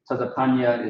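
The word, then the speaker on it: צפניה: Tazapanya is how you would pronounce it.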